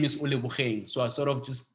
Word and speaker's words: Ole Bogeng: So it's Ole Bogeng, it's the name after my late brother.